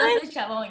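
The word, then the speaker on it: Altos de Chavón: Altos Chabon, yes, Okay. Altos, like, yeah, it's like, yeah, you said it correctly.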